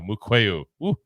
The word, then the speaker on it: Mukuamu: I always mispronounce this guy's name. Mukuamu. There we go. Mukuamu.